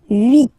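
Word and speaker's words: huit: And here final t is pronounced. So vit remember remember in French this ash letter here okay uh doesn't exist phonetically so we we don't really pronounce it okay so if you listen carefully you will only listen or hear this vowels at the beginning of the word vit okay and then N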